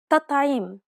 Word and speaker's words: تطعيم: It's as though both of the T's were dark.